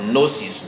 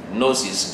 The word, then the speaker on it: gnosis: Okay, principally, all right, the word gnosis, the Greek word gnosis, gnosis, G, all right, G-N-O-S-I-S, gnosis, the G is silent, all right, is the general word for knowledge, okay?